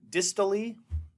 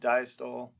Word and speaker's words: diastole: We have what's called dystole. Okay, sometimes people pronounced it diastole, but dystole is when